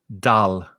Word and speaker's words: dull: So my pronunciation is the same as in up or cup, dull.